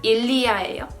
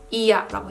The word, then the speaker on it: il y a: 자, 이야라고 하는 거는 일리아예요. 근데 이제 프랑스인들이 말할 때 일리아라고 보통은 발음을 또박또박 하지 않고 이야라고 해요.